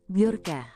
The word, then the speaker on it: Bjorka: Bjorka diucapkan Bjorka.